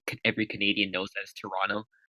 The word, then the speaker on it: Toronto: for example Americans called Toronto but like every carry can every Canadian knows that's Toronto like you don't pronounce the T to an off yeah